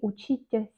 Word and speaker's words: учиться: Les terminaisons des verbes, on lit comme tsa. Par exemple, учиться, on écrit учиться, étudier.